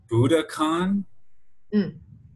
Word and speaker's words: Budokan: watch you teach and Budokan how do you say this at Budokan yeah it's almost like Buddha and like Khan well it's exactly Oh